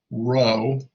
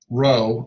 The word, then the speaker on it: rho: is the greek letter rho spelled rho and it's and it's pronounced row like the row boat or row row row